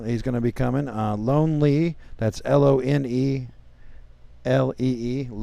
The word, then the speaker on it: Lonelee: Lone Lee.